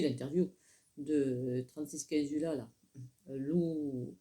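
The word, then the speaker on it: Lula: de 36 15 là loup l u l a ça se prononce loup.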